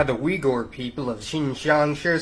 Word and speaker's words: Uyghur: and Uyghurs, yeah, I know it looks like Uyghur, but it's pronounced Uyghur.